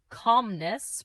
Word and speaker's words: calmness: half Pronounce it as half. The letter L is silent. calmness Pronounce it as calmness.